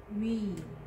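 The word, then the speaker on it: μ: Me. Me. Me. Me. And then the pronunciation is, in English, M sound, M.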